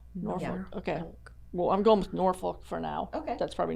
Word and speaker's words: Norfolk: what do you say Norfolk I call it Norfolk Norfolk but the natives call it Norfolk Norfolk there's there's only one r no more folk yeah okay well I'm going to Norfolk for now okay that's